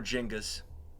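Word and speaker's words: Genghis: They went for Jingus, by the way. That's the right pronunciation, is it?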